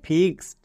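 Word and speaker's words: fixed: শব্দের শেষে যদি ED থাকে তখন এড হবে না, এর জন্য শুধুমাত্র ডো হবে। যেমন FIX, ফিক্স, ED এর জন্য ডো, মানে ফিক্সড।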